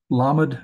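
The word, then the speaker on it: ל: back and revisit that lamad is the l sound meem is the m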